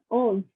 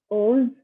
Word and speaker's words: onze: 11 is onze, 12 is douze, 13 is treize, 14 is